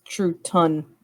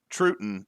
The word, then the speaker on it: Truton: No, it's Truton is how they pronounce it, but originally it was called True Town.